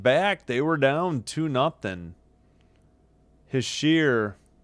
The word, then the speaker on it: Hischier: Hischier, I forgot how to say it. Hischier. It's Hischier.